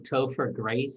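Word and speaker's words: Topher Grace: i want i'm probably going to say his name wrong toe for grace is that how you say yeah yeah yeah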